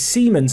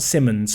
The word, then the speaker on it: Siemens: siemens whipping it in it's siemens not simmons i've been told about that i'm going to say it correctly this once if i ever call him simmons i'm sorry it is siemens but it's hard to